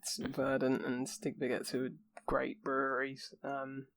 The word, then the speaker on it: Stigbergets: This is Stigbergets. That's how you say it. Stigbergets. Stigbergets and Verdant.